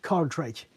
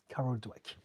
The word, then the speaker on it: Dweck: It's not Carl Drake. It's Carol. It's a woman. Carol, and Dweck is spelled Dweck. Carol Dweck.